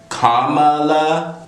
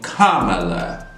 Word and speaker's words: Kamala: can't pronounce the name kamala and it might be kamala it might be kamala i can understand maybe not knowing where the emphasis goes on a name you know due to